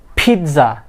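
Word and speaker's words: pizza: নো, ইটস নট পিৎজা, it will be পিৎজা।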